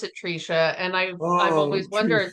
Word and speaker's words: Tresha: It the way that it's spelled out it should be TRA but my parents pronounce it Trica.